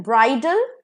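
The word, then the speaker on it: bridal: will be बिडल और ब्राइडल इसका pronunciation D ए एल डाल नहीं होगा डल होगा ठीक है तो ये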